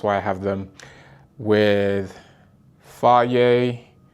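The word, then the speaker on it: Fage: That's why I have them with Fier 0% yogurt. It is pronounced fier.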